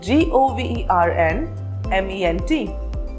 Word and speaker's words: government: G-O-V-E-R-N-M-E-N-T. So how do you pronounce this word? Is it government or government? Well, it is pronounced as government. The letter N is silent here.